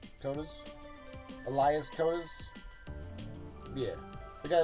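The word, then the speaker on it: Koteas: But Elias Cotis K O T E A S Cotas. Cotas.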